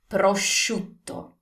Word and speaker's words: prosciutto: We need to pronounce that O, prosciutto.